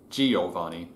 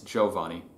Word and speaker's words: Giovanni: The Western way in America, it tends to be Giovanni, and it's not. In proper Italian, it's Giovanni. Trisyllabic, not quadrisyllabic.